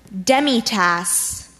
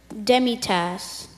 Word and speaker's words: demitasse: his an pays an pays164 badge number 32 demitasse demitasse have their definition sure it's a small cup